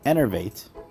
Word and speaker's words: enervate: him cornered and use enervate uh shout out to uh one of my subscribers for uh correcting me on how to say it's enervate and I plan to